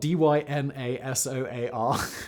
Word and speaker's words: Dyna-Soar: It's spelled Dynasoar, but it is Dyna-Soar.